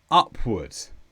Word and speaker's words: upward: this purpose and finally upwards or sometimes upwards and this is an adverb with the stress on up upward and this means inner